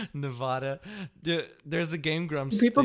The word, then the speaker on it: Nevada: We can get into that discussions as much as we can get into discussion how to pronounce Nevada. Isn't it? Is it not Nevada? Nevada.